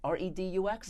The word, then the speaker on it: Redux: I can't pronounce this properly. Redux? R-E-D-U-X?